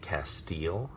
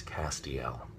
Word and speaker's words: Castiel: in and they will say how do you pronounce your character's name is it castile and i will say no is not Castile its Castiel and that's very important that on the page